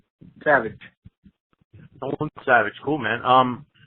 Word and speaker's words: Savage: you how do you say your last name Savage Nolan Savage cool man um I know you've